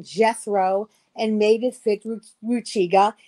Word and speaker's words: Jethro: You would have expected them to go back to Hebrew. Why not go back to Yethro, which was his name? But no, they took the English version, Jethro, and made it fit Ruchiga.